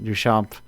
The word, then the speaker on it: Duchamp: Duchamp, to properly put the French on it.